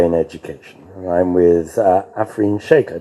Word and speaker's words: Afreen Shaikh: talk about AI in education and I'm with afine Shake I pronounced that correctly yes good AF tell us